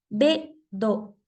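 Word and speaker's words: ベッド: lo dejamos si hay consonantes que se pronuncian de manera brusca en katakana se convierten en consonantes dobles también y esto relacionado meramente al inglés también pasa con algunas palabras del español pero es más del inglés la palabra B do B do obviamente la palabra es Bed Bed Pero cuando la pronuncio en inglés suena fuerte ese sonido de la d por eso en japonés se considera una consonante doble los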